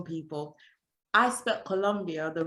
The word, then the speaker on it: Colombia: is columbus so in in english it's uh it's pronounced columbia but here is colombia thank you i was